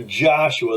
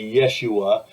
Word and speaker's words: Yeshua: English pronunciation is either Joshua that's more common or we're trying to be more accurate in Hebrew we might say Yeshua like it's actually pronounced in Hebrew and the meaning is